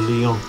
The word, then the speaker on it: Lyon: And we're going to connect to Orleans, or Lyon, as it correctly pronounced in French.